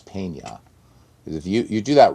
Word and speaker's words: peña: So it's just because there's a tilde above the N, which in Spanish is pronounced like a ñ. So it's not pena, it's peña.